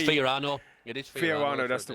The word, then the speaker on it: Fiorano: Relic says, oh, I can't pronounce that. Ferrano? Is that? Right, we've got a cheater. I tell you, Andy's got some knowledge with the tracks there. Adam LB. It's Fiorano.